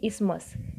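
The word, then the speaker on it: isthmus: Placed होता रखा हुआ होना, स्थित होना, और इसकी प्रोनाउंसिएशन होगी इसमस।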